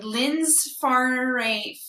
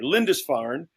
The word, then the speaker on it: Lindisfarne: And Fred Keating is a Canadian actor living out of Vancouver and is a partner in Lynn's Farney. How do you say that, Sheena? Good try. Lindisfarne.